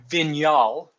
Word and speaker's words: Vignal: So it's Vignal. So Vinal. So it means of the vine. It's Spanish, but it's pronounced Vignal.